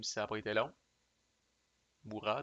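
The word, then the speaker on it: Murat: ça pas été long Mourat devrais-je dire tout le temps tendance à prononcer le T muet 3è carte la Grande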